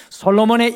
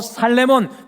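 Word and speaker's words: שלמה: 여러분들 솔로몬이라는 이름의 히브리어 발음은 살레몬입니다. 이 한국 발음이 솔로몬인데 원래 히브리어 발음은 살레몬입니다. 솔로몬의 이름 안에는 샬롬이 있었습니다.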